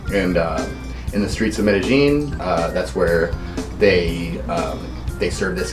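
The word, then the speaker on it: Medellín: Yeah, because we always hear Medellin. Medellin. But that's actually incorrect. Yeah. The locals say Medellin. Medellin's right, yeah.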